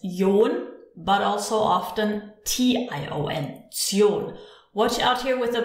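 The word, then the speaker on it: -tion: Zion. Watch out here with the pronunciation. When we have tion, we don't actually say tion, we say zion. So it sounds like a tsion, zion.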